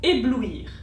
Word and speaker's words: éblouir: Comme par exemple dans le mot éblouir, on fait une pause entre ou et i, on les prononce séparément et on fait donc